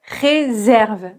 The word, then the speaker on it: réserve: S'il n'y a pas d'accent, je vais prononcer re mais ici c'est ré réserve.